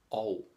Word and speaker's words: og: Og. And. Og, spelled OG, pronounced og.